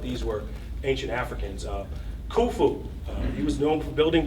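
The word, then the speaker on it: Khufu: I like kufu because his name rhymes with my name kulu.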